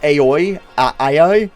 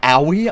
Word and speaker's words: Aoi: pronounce hina's name i i thought it was aoi io and then it's like it's owie i was like oh